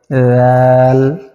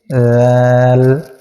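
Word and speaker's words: ذال: করে বলতে হবে এভাবে জাল সামনের উপরের দুই দাঁতের আগার সঙ্গে লাগাইয়া উচ্চারণ করতে হবে জাল এভাবে চেষ্টা করুন জাল র র যা সিন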